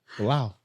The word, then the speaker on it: Belal: How you pronounce his name? Bully B. Bilal.